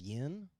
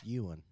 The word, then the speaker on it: yuan: I thought it was yen for a I long thought time.